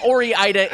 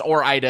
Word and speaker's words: Ore-Ida: orienta i i think i think ori ida is close i mean i think there's a case for that because it is like oregon and so you start to do if you start to pronounce that next syllable i i i there's there's a case for aura ida uh but i but i believe it's or ida is the correct pronunciation i guess we'll just